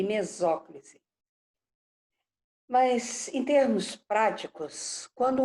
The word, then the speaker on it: mesóclise: Mas o correto é próclise, ênclise e mesóclise.